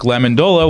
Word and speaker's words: Lamendola: I'm here once again with Luke Lamendola. Welcome. Thank you, and thanks for pronouncing my name properly.